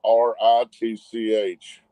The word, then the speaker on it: Ritch: ago, because mine is RITCH. It's Big Dad Rich. It's RITCH. It probably got auto-corrected. So we'll fix it. RITCH, it rhymes with your mother-in-law.